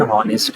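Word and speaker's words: honest: लेकिन यहाँ पे जो एच है ये साइलेंट है, तो इसलिए ओ जो है ना वो यहाँ इन ऑनेस्ट है। सही है। तो हमारे पास इज एन ऑनेस्ट officer. ऑनेस्ट begins with a vowel sound.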